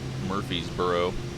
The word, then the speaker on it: Murfreesboro: Murfreesboro, but it's spelled extremely weird. It's not Murphy, it's Murfree.